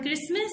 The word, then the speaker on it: Christmas: This word Christmas starts with K pronunciation, so we will circle this word.